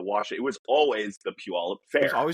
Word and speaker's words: Puyallup: I always love when I'm listening to podcast or something and they talk about Puyallup and they're just like, Poo Poy Poo Poy Poo Poy.